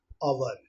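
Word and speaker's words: hour: इसका भी H silent होता है और इसकी भी स्लो मोशन देखिए, एन अवर, एन अवर, अवर, एन अवर, तो इसीलिए यहाँ पर एन लगा।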